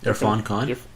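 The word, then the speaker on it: Irrfan Khan: I mean, InGen's obviously under new ownership by a certain individual played by how do you pronounce his name again? Irfan Khan.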